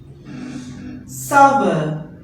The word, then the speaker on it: sour: Sour. S-O-U-R. Sour, not sore. S-O-R-E will pronounce as sour, and sour means the thing that contains tangy flavor, kata flavor.